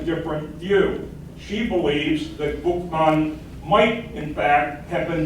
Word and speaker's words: Boukman: Boukman got his name, the way it's spelled in the French sources is Boukman, but the historians from the English tradition believe that his name probably was originally Boukman, Bookman, and that could have been